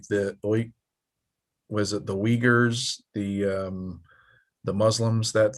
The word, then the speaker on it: Uyghur: spelled right like you started with a u and a y but you call it weaker it's pronounced uyghur like that's not that's